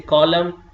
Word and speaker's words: column: going to pronounce and let me say column damn solemn autumn ATC and when P comes with you know s T or n you are not going to pronounce then P P will be silent like we say some